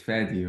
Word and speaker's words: Faydee: And being here as a Lebanese in Australia, the original way of saying my name is Fadi, right? That's the Arabic way of saying it.